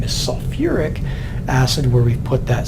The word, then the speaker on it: sulfuric: here for a moment you'll notice that we took a syllable and put it back in so instead of having just salt thick acid which doesn't sound right we've called it sulfuric it wouldn't be completely